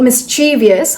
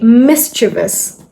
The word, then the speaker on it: mischievous: This word is not mischievous how it's usually pronounced. It's actually mischievous.